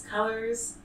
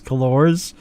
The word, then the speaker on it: Cullors: of black lives matter I've been calling her Patrice kores because that's how you actually should pronounce that name but not I guess not but okay maybe maybe somebody should tell her how that name would be pronounced right like really okay